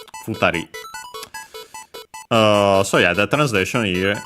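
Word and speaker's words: 二人: Hitori accented on the to, while this futari accented on the ri itself. Yeah, so futari.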